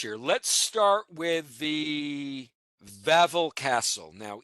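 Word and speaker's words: Wawel: Let's start with the Vavl Castle. Now, even though this is spelled W A Wel, it's actually uh Vavl.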